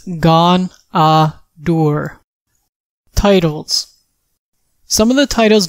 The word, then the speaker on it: Ghaunadaur: version of D&D pronunciation the official pronunciation of this daddy's name is gone door titles some of the